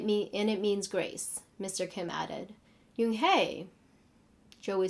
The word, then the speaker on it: Unhei: Yes, it's pronounced Unhei. It means grace, Mr. Kim added. Unhei, Joey said slowly, and this time perfectly.